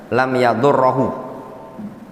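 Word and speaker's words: لم يضره: bisa memodharatkan anak tersebut itu bacanya lam yaddurohu ya di fathah karena dia jasem dari fi'il mudho'af syaitan kemudian Maryam ibunya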